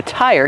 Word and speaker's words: tire: The tire came off the rim. Kevin, how do we pronounce tire? Tire. Use the long I sound like high and like, and bike.